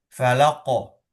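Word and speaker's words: فلق: Kemudian beliau mengoreksinya dengan huruf qaf itu di dalam, lebih dalam dari yang eh lebih dalam dari yang saudara yang baca gitu kan ya. Itu. Yaitu maksudnya apa? Tempat pengucapan huruf qaf itu berbeda dengan huruf kaf yang cenderung mendesis. K, k, gitu kan ya.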